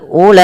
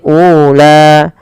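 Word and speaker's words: أولئك: Kemudian pada lafal ulaika ashabul jannah, tidak boleh dipanjangkan, tidak boleh ula.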